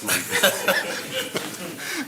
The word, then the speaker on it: Malvern: It's Malvern. It's Malvern and not Malvern.